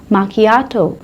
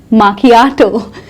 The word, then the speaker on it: macchiato: Flat white, माकियाटो, आहा इट is pronounced as माकियाटो. माकियाटो, macchiato.